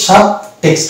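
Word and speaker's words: subtext: এটা উচ্চারণ অ্যাকচুয়ালি কি হবে, সাব টেক্সট, মানে দুটো উচ্চারণ হবে, দন্ত সয়াকার ব আর টয়ে ইকার, এটা এক্স কয়ে দন্ত সযুক্ত আর ট, তাহলে এটা সাব টেক্সট। তার মানে ট উচ্চারণ আছে, বি উচ্চারণ আছে।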